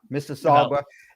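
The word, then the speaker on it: Mississauga: Vince Dunn is uh from um uh Missaga um right? Is that how you pronounce it? Uh yeah, Missaga.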